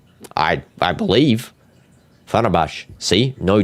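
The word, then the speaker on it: Fenerbahçe: Fenerbahce. I didn't read it with the T. There's no T in there. I didn't read any T. I believe. Fenerbahce.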